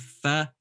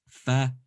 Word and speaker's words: ف: of your bottom teeth okay then we have fa fi fu fa fi fu this is how it looks in